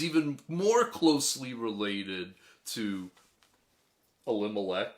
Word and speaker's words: Elimelech: more closely related to elimelech or actually i believe it's pronounced ellie malek he's even more closely